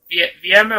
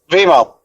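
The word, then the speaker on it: Vimeo: Is VMO or not? What? VMO or Vimo? Vimo. There we go. I keep saying it wrong.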